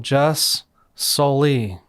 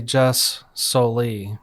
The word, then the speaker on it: jus soli: Another term that you might want to know is the Latin term jus soli, a Latin term that means right of the soil.